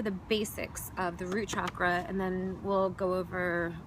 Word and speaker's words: chakra: and it's it's spelled chakra but I've heard the Sanskrit pronunciation is chakra like a u chakra so that's why you'll